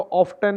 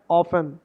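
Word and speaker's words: often: ऑफन, इसको ऑफ्टन नहीं बोलना, ऑफ 10। मैं भी पहले इसको ऑफ 10 बोलता था, नहीं, करेक्ट प्रोनाउंसिएशन नहीं है इसकी, करेक्ट प्रोनाउंसिएशन है ऑफन, ऑफन।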